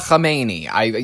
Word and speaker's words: Khamenei: Mojtaba Khamenei. Yes, that's a good way to pronounce it.